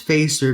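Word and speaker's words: Fäster: here's Craig fcer and it is pronounced facer because we do have the two dots sorry I don't know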